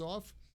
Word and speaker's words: of: The F in the word of is generally not pronounced because that causes the air to stop.